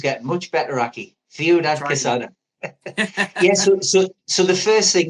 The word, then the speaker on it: Ciudad Quesada: Ciudad, your pronunciation's getting much better, Aki. Ciudad Quesada.